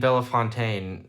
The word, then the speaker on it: Bellefontaine: To those who don't know, it's Versailles and Bellefontaine. Even Vandalia seems wrong.